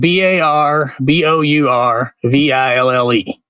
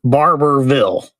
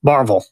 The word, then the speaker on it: Barbourville: They say Barbourville. Barbourville? Barbourville. So they totally skip the middle syllable and to your point, they don't say ville. They say vull. Barbourville.